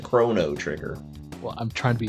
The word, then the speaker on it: Chrono Trigger: No, I'm trying to say Chrono trigger because it's a CHRONO. See, you got greedy there. You should have said Chrono Trigger.